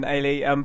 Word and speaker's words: Eilidh: So we're very excited to announce Team GV's Olympic gold medalist, Eilidh McIntyre. Thanks for having me. Thank you very much for joining, Eilidh.